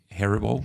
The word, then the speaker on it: Haribo: up was bringing, I don't know how to pronounce it even. I think it's Haribo. Haribo, correct.